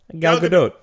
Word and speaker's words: Gal Gadot: Gal Gadot.